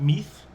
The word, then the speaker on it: Meath: becomes the king of meath that's what's pronounced as nowadays it's spelt m-i-d-e but it's m-e-a-t-h in english he's the king of